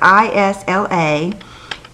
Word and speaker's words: Isla: The Isla, I believe it's pronounced Isla. It's Isla, and I love them.